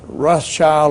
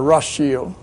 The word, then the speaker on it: Rothschild: In German, that is pronounced Rothschild or Rothschild.